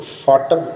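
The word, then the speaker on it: Vater: और आखिरी बात जो बताने का मकसद है यहाँ पे कि फाटर, इस चीज़ का ख्याल रखना है, फादर को फाटर बोलते हैं यहाँ पे जर्मन में, जिसको यानी हम पिता बोलते हैं हिंदी में, और उर्दू में बाप बोलते हैं।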